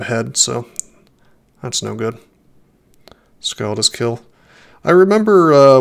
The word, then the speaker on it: skald: of ending up being a scald you know or a skald i guess it's pronounced which is uh shockingly